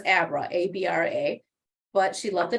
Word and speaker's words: Abra: And so while she was reading the book, she used to always pronounce the character's name, Aubra, but I think technically it was Abra, A-B-R-A, but she loved